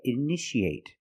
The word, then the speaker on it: initiate: You see T-I-A. How do we pronounce it? That's right, sh, sh. So how do we pronounce this word? That's right, initiate. In the present, initiate. In the past, initiated. The second T is between vowels, so we pronounce it like a fast D.